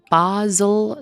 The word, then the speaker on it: Basel: So Paolo was born on August 22nd, 1958 in what I believe is pronounced Basel, Switzerland. Could be really wrong.